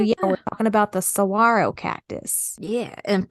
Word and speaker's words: saguaro: we're talking about the saguaro cactus yeah and first thing is pronounced Saguaro and the word Cactus